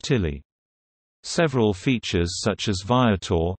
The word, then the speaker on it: Tele: It is known locally as the Telly, although this is pronounced Tilly.